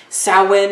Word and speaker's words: Samhain: Samhain is the correct name and term, pronunciation for Halloween, which, you know, Samhain is the original holiday, pagan holiday associated now with Halloween.